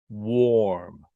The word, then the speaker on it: warm: the word once again it's spelled w-a-r-m but English spelling is very tricky so let's look at some words that rhyme with warm and they're spelled differently sometimes first let's look at up here s-w-a-r-m swarm swarm now usually we use